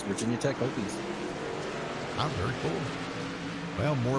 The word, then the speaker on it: Hokies: I wasn't sure if that's how you say it, but it doesn't have 2 O's, that would be Hokies. So it has to be Hokies.